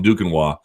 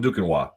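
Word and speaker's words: Duquesnoy: guys do if you guys don't know Tom dukino and for my American friends who couldn't possibly spell that without assistance du q u s n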